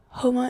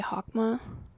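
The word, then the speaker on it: Chokhmah: Um homa in Hebrew we don't pronounce a c. Okay. Thank you. I appreciate. So that would be hakma.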